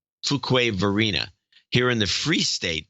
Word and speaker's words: Fuquay-Varina: Or Fuqua. No, it's Fuqua. Fuquay. It's got to be Fuquay. Fuquay-Varina.